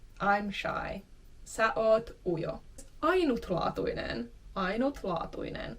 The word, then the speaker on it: ainutlaatuinen: Ainutlaatuinen. Ainutlaatuinen. Again, here's an I, which is sometimes dropped in speaking.